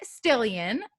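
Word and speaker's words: Stillian: of a guest still Ian rhymes with million which is perfect for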